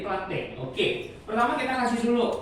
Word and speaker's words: Plantae: Bacanya Plantae atau Plantae? Plantae ya. Setiap ada AE itu cuman dibaca ini aja, jadi Plantae.